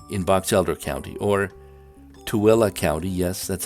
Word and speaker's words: Tooele: consider brigham city in box elder county or tooele county yes that's how it's pronounced toilet the great majority of juab county's